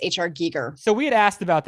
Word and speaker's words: Giger: Geiger, but his name is actually pronounced H.R. Giger.